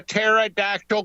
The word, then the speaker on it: pterodactyl: you can't hear a pterodactyl going to the bathroom I I'll tell you why I cuz the p is silent I go he know